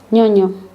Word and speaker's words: ñoño: The letter ñ with the sound n. The n sound is pronounced a little bit like an N with a ham. Think of it as an ñ sound like canyon.